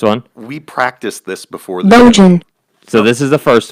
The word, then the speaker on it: Bojan: The popular pronunciation is Bojan.